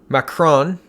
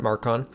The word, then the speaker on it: Macron: macron sorry I forget mispronouncing his name it's macron not mark on micron mr.